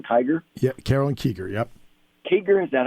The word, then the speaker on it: Kiger: Kiger, is that how you pronounce it?